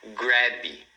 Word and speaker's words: grab: Então, você não deve falar grab. Tá vendo? Não colocar esse i. Grab é uma palavra de uma sílaba, então você não deve fazer ela como se fossem duas, grab, entendeu?